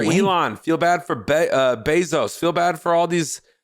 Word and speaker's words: Bezos: it's bad for elon feel bad for uh bezos feel bad for all these uh billionaires you